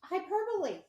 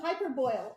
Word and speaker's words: hyperbole: you're reading wrong oh it's hyperbole hyperbole yeah wait it's spelled hyper boil i've been reading it hyper boil for all my years and then i felt